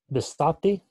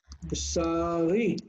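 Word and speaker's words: בְּשָׂרִי: How do you say my flesh, my meat? Bisati? Bisari. Bisari. Bisari means flesh.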